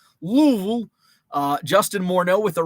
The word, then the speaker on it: Louisville: kernels I didn't say Louisville right because you've got to pronounce it with as few uh syllables as possible like Louisville Louisville uh Justin Morneau with